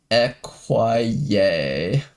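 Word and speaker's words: écuyer: The French word acquire meaning squire or rider is pronounced equier.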